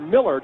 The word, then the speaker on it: Millard: first half for the birds down 17-15 Chad Millard or Millard is the way that's pronounced the transfer from Louisville he's a senior